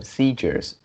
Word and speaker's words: seizure: next one is uh seizures yeah so the uh this is what this words s e i we pronounce as c seizure and then uh also